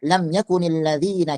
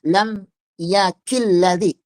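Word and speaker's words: لم يكن الذين: Perhatikan di sini nun yang ada di sini ikhwan, yaitu nun yakuni, ini tidak boleh dibuang. Kenapa tidak boleh dibuang? Karena nanti bacanya kita wasalkan. Enggak boleh kita mengatakan lam yaakilladzi. Enggak boleh. Nunnya harus wajib ada di situ. Kenapa? Karena asalnya lam yakun itu nunnya sukun.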